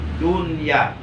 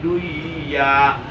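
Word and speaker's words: دنيا: dibaca izhar Nun Matinya jadi membacanya yang benar dunia tidak boleh dibaca Dwi ya Iya itu pengecualian khusus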